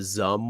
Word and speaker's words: XUMM: So for XRP in particular, the one that I recommend for people is called the Zum wallet, and it's spelled One.